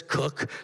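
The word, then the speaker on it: Koch: cotch Brewery K C he says cook the Coke brothers call it Coke it's all spelled the same way the cotch Brewery in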